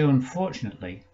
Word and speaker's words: unfortunately: that causes people difficulty when we say unfortunately it sounds like nut in the middle of it doesn't it not nate not so what we need to do is to mispronounce it to ourselves and say unfortunately emphasizing the nate this will help us